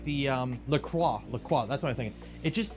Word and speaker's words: La Croix: It's pronounced La Croix.